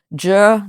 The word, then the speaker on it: zhi: But the pronunciation of words like xie, X-I-E, how would you even pronounce that, right? Zhi, Z-H-I, zhi, z, z, the word z.